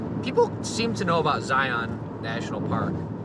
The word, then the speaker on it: Zion: seem to know about zion national park notice i i pronounced it zion because i'm not from there people from there say zion or they just call it zions so i'm thinking about